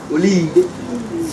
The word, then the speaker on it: Oloye: Is it Oloye now? Oloye. Okay, let's put our hands together for her, please. The name is Oloye.